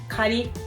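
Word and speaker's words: 狩り: or Autumn Leaves viewing this word Kari we pronounce it as Gary because Momiji part is attached to the this word and then make a long big word The Mummy so Captain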